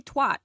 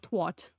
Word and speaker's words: twat: First of all, don't say it like that. It sounds stupid. It's you say twat, not twat.